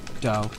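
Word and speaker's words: 8BitDo: Is it Homer Simpson do, or is it Scooby-Doo? Do, it's do, re mi. Do, so it's Homer Simpson do.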